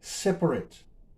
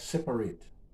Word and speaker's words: separate: So this word can be pronounced two ways depending on what part of speech it is. So if it's an adjective, it is separate.